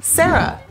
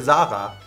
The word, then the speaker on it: Sarah: Next one, Sarah. Oh, Sarah. That's a simple, very popular too here, Zara. Zara. Zara. Like... I love the German pronunciation of that name.